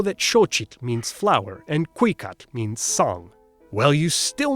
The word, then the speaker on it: Cuicatl: Oh, and they stressed the second to last syllable, Cuicatl, Hueyi Tlatoani.